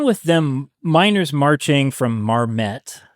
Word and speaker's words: Marmet: It began with them miners marching from Marmet, that's how it's pronounced, Marmet, to Logan County, which I think is about 60 miles.